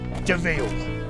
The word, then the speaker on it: de Vil: her new name he spelled devil but is pronounced deville and now the castle